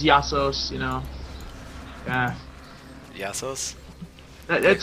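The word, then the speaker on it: Ἰησοῦς: I mean uh pesus Jesus actually Greek name is yassos you know yeah yassos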